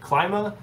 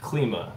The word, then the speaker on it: Klima: So what's the pronunciation? Is it like when I say climate, like Klima, or is it like Klima?